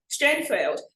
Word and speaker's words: Strandveld: It's Strandveld, like, gosh, I can't even pronounce it right, but the V is pronounced like an F in South Africa, right?